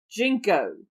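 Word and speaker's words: JNCO: wide leg jeans what does the clothing company jinko stand for i'm not sure i said it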